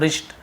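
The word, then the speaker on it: wrist: She Tide rakhi on king बलिस, उन्होंने राखी बांधी राजा बलि के रिस्ट यानी होती कलाई, डब्ल्यू साइलेंट होता है रिस्ट, कलाई में।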